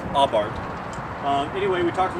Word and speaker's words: Abarth: about my 2013 fiat aubart and it is pronounced ob art uh apparently the italians could pronounce that's sound so uh it's abart um anyway we talked a little about pros